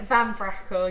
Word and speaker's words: Van Braeckel: Is that how you pronounce it, Issy? Yeah, Van Braeckel, yeah.